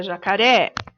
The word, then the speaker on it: jacaré: Por exemplo, dentro da palavra jacaré, o ré é a última sílaba, o K é a penúltima sílaba e o já é a antepenúltima sílaba.